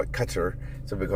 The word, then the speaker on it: Qatar: Some people call it cuter, some people call it Qatar, but they say that it's a first syllable emphasis.